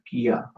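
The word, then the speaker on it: क्या: You pretty much pronounce like that, Kia, and that's how you write it, Kia.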